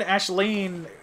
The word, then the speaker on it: Aisling: Because I have a friend, Ashleen, who her name is spelled like A-I-S-L-I-N-G, and that's the proper Irish way to say it. But it, you know, it looks like Aisling, obviously.